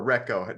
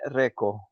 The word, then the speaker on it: Reko: can use both because here in Finland we say Reco but in Sweden they say Reiko so okay it's up